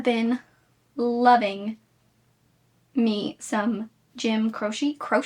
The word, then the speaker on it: Croce: I have been loving me some Jim Croce. How do you say his name? How to say Jim? Croce, not cross, not Croce, not croaky.